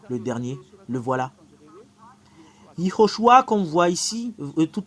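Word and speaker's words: יְהוֹשֻׁעַ: Ho, parce qu'il y a un point juste ici. Ho. SH. Ces 3 points veut dire ou, Iho, SHU, Shu, Iho, Shu. En fait, il y a une séparation. Iho, Shu. Il y a une dernière séparation et c'est A qui est à la fin. Iho, Shu, A. Voilà le fait de prononcer ce terme.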